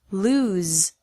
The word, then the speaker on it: lose: Lose, with a Z sound.